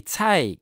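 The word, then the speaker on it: 菜: Et cai, qui veut dire légume, donc, dans le mot chou chinois, c'est homophone, même prononciation que le mot richesse.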